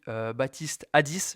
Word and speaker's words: Baptiste Addis: Parce que on a aujourd'hui Baptiste Hadis, je le prononce bien, ça va?